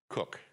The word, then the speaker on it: Koch: So, let me make sure I pronounce it correctly this time. Koch.